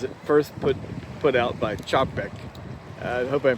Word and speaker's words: Čapek: So tell us about the evolution of the robot as it first put out by Čapek. I hope I'm pronouncing his name Yes, correctly.